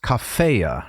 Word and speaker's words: cafea: I think you've said it is to be pronounced as cafea right as a first declension noun so if you wanted